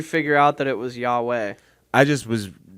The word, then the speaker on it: YHWH: It's a band called Yahweh Nail Gun. Is that how you pronounce it? Yeah. Yeah. I was saying Y HW nail gun.